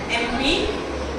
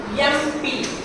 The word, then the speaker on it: MP: The word MP, actual pronunciation of the letter MP, MP. MP. Listen carefully. MP. How can we pronounce MP? A, vowel. AEIOU, a vowel தானே? MP. MP. அப்ப இது என்ன pronunciation? A vowel consonant-ஆ? vowel. அதனால நீங்க என்ன பண்ணணும்? MP. நீங்க என்ன சொன்னீங்க? vowel letterல வந்தா and போடணும். M வந்து consonant தானே? Look at the sound, not the letter.